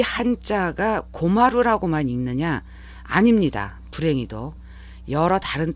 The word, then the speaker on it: 困る: 여기 입구자에 나무 목자가 이렇게 들어가 있는 이 한자를 일본인들은 고마루라고 읽습니다.